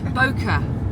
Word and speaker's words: bokeh: Bokeh. Why is it not focusing on you? Because you're more important. This is your show. This is my show. Bokeh. I've pronounced it wrong always beforehand.